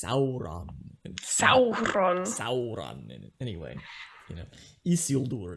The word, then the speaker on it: Isildur: Anyway, Isildur. It's not Isildur, it's Isildur. Anyway. Isildur. You gotta roll your Isildur.